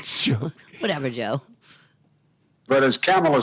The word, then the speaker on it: Kamala: least you've corrected it now we know it's camel it you you've heard it that's it it's camela so now we've got here's